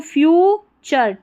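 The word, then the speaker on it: future: FU, फ्यूचर, TURE को चर पढ़ते हैं, फ्यूचर, ब्राइटर, फ्यूचर।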